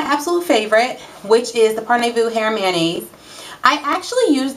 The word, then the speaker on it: Parnevu: and it is called par Vu I think that's the correct pronunciation um I was sent